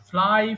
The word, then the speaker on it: flew: এরপরে ফ্লাই মানে উড়ানো, ফ্লাই, ফ্লু, ফ্লোন। এখানেও দেখো ভুল আছে, আমরা ফ্লিউ বলি, উচ্চারণটা হবে ফ্লু।